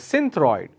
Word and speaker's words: Synthroid: which I remember is Synthroid. All right, Synthroid. I can spell it as Cynthroid. That's Synthroid. The other way to pronounce is Sinthroid. Okay, it's again Synthroid.